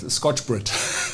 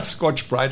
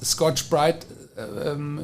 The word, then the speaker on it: Scotch-Brite: I always said Scotch-Brite, but Scotch-Brite I think is the right pronunciation.